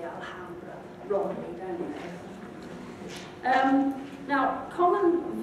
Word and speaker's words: Alhambra: um spanish of course has a letter h but you don't pronounce it you just ignore it so you say lots of english people say alhambra wrote down um now